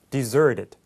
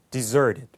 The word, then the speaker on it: deserted: 돼요 deserted 자 이제 북미 발음으로 하면 t 발음이 부드럽게 우리말처럼 하면 돼서 deserted 이렇게 되는게 아니라 deserted 이렇게 되는 거죠 한번 따라해 보죠 deserted deserted 장소에 사람이 없는 뜻이